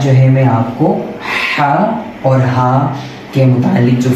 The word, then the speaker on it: ه: Create کر سکے گا۔ تو یہ آپ دیکھیں، یہ ہے ہا۔ میرے منہ کو آپ اگر دیکھیے گا غور سے، اور حلق کو دیکھیے گا میں کس طرح یہ تلفظ پڑھ رہا ہوں، ہا۔ اس کے ساؤنڈ کو بھی غور سے سنیے گا، ہا۔ یہ ہے حرف الحا،